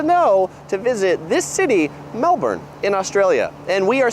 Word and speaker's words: Melbourne: that we need to know before going to Melbourne 10 things to know before you go to